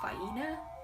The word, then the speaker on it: Faina: I mean, it looks like Faina, but I mean, it gives little syllable things in one page in the book, and it's Faina, so that's interesting to me.